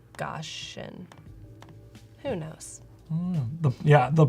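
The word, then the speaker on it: Gaussian: with like cap exactly I say goian but I'm sure it's goshan who knows the yeah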